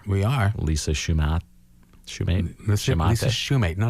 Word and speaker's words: Shumate: Lisa Shumate. No, not Shumate. It's Shumate. spelled, you could pronounce it Shumate, but that would be wrong.